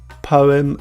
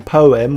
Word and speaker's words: poem: Show, poem and toe. So poem and toe, OE. In poem, we say the E, po-oe, and with toe, we just say O.